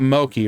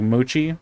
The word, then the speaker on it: mochi: do you pronounce that is it Mochi it's not Moki right it's like moochi Mochi I will have to